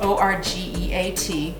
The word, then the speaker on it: orgeat: It's spelled O-R-G-E-A-T, but it's pronounced orgeat.